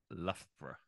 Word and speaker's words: Loughborough: okay what is it it's actually the Loughborough Loughborough bro I here it's three syllables but I would probably say two I'd probably say Loughborough Loughborough Loughborough yeah okay